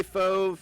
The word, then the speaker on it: Fauve: Is it Fauve? Fauve? Falve? See, I am such a redneck from the mid. Fauve. Thank you, DC. Happy birthday, Fauve.